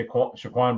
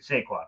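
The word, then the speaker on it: Saquon: recognize when they let sha Shaquan Barkley walk away I said his name wrong yeah when they let saquan saquan Barkley when they when they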